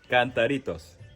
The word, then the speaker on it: Cantaritos: How you pronounce it? Cantaritos.